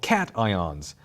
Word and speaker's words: cation: charged ions they call cations and yes it's spelled just like it sounds cat ion and if you feel